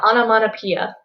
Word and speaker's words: onomatopoeia: for the word study we have onomatopoeia yes that's pronounced pia the concept vocabulary vocabulary